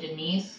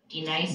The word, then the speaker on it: D-Nice: Do you mean Denise? Son of a splash! You say your name right. Right now. Denise? Say it right. Denise. Say it correctly. Right. D-Nice.